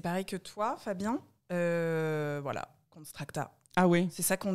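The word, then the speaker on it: Konstrakta: Voilà, Constracta. Ah ouais. C'est ça qu'on dit? Oui, c'est comme ça que ça se prononce.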